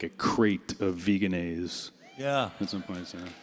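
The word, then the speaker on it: Vegenaise: like a crate of Veganese. Yeah. At some point, so. Or I was told the corporation pronounces it Veganese, but I don't know that I can do that.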